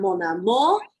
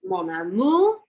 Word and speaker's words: Mon Amour: So, I got a French instructor and she came over and she was like it’s not: “Mon AmOr” it’s: “Mon AmOUr” and “tu sais que que que”.